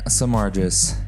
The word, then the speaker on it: Samargis: okay let's do this thing samargis did I say it right yeah okay because